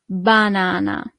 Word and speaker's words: banana: So the only thing that changes is the pronunciation. The banana is la banana. So not banana, but banana.